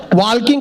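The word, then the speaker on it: walking: garden में वॉकिंग करेंगे वॉकिंग करते करते ताल किंग करेंगे मैंने कहा वॉकिंग नहीं वॉकिंग होता है टॉकिंग नहीं टॉकिंग होता है इसमें एल साइलेंट आता है फिर मैंने अपना ज्ञान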